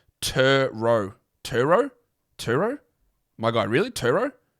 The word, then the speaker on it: Turo: gonna be a pronunciation guide here turo is pronounced tur row turo turo my guy really turo turo is